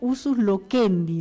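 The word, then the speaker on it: usus loquendi: Debemos notar también que muchas palabras bíblicas eran exclusivamente del de uso local y eso eh se se pronuncia usus lokendi, ¿no?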